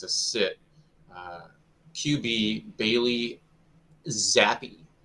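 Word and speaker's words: Zappe: Sit uh QB Bailey zappy that I say it right is that good for you yes you did you did I want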